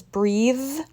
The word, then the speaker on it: breathe: by giving them shirts breath versus breathe he took a deep breath after the test he can breathe deeply now that the test is over nouns in this case only have voiceless sounds and the verb has a this is not